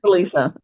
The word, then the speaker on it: Salisa: So do I pronounce it right? Salisa? Salisa, yes.